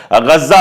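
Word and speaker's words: غزة: जैसे गजा हम लोग कहते हैं, लेकिन वहां पर गज्जा उसको कहा जाता है।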